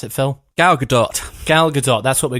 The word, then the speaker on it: Gal Gadot: How do you pronounce it, Phil? Gal Gadot.